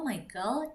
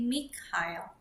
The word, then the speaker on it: Michael: Contohnya nih pembalap ini namanya bukan Michael. Kalau Michael ini adalah ejaan untuk mm bahasa Inggris Michael. Jadi kalau dalam bahasa Jerman dibacanya Michel. Kemudian sh karena jadi sh jadi shumer. Jadi namanya adalah Mikel Schumacher. Dia bukan Michael tapi Mikil.